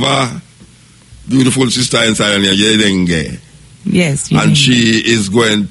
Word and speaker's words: Yennenga: I hope I pronounce her name right. Yennenga.